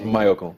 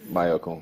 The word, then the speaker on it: Mayorkun: Mayorkun, right? Mayorkun. Not Mayorkun. Yeah, no, but your name is Mayowa. Yeah, my name is Mayorkun. So of course people naturally think it's Mayorkun.